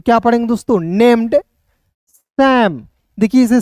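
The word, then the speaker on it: Sam: Named सैम। देखिए इसे साम नहीं पढ़िएगा दोस्तों।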